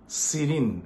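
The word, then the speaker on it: serene: three সিরিন সিরিন কথাটার মানে হচ্ছে পিসফুল ট্র্যাঙ্কুয়েল প্রোনাউন্সিয়েশন টা দেখো সিরিন এস ই আর ই এন ই তাহলে তার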